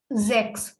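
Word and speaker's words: sechs: we say sex okay ch combination has various sound here the ch combination is giving car sound ka so it is zx then seven is called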